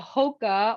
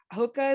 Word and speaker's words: Hoka: So this is a Hoka or Hoka, is that how you say it?